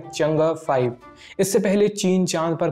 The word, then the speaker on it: Chang'e: साइंसकारी के इस एपिसोड में हम चीन के चंगअ-5 मिशन की बात करेंगे। इसे अंग्रेजी में चंग-ई लिखते हैं, लेकिन इसका सही प्रोनाउंसिएशन चंगे नहीं है, ना ही इसे चेंज बोलते हैं। इसका सही प्रोनाउंसिएशन होगा चंगअ।